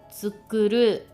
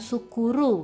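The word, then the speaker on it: 作る: menjual, tsukuru, tsukuru, bukan sukuru, bukan gitu ya, tapi tsu ya, tsu. Jadi lidahnya itu berada di tengah-tengah gigi atas dan gigi bawah cara pengucapannya, dan ada sedikit udara ditahan ya.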